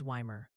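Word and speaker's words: Weimar: And Wimar is Wymer.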